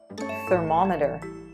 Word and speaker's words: thermometer: Thermometer. The second syllable gets the stress.